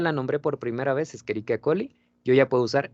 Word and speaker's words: Escherichia: Ahora, ojo, por favor, se pronuncia Escherichia. ¿Sí? Viene del latín la mayoría de los nombres. Entonces, el CH siempre lo pronunciamos como que o como K, ¿sale?